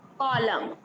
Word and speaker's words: column: बोला नहीं जा रहा, लेकिन एन बिल्कुल भी नहीं बोला जाएगा क्योंकि ये यहाँ पर साइलेंट है। साइलेंट है। कॉलम, अगर आप किसी फर्स्ट